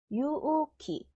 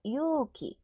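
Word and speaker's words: 勇気: 보이죠 형 오빠는 오니상 기는요 유우키 우 날라가고 유키 공기는 우 날라가고 쿠키예요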